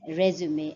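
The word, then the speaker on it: résumé: So that is resume. And what you will find is this is a three-syllabic word, resume. So the stress is more on the first syllable, resume, whereas when the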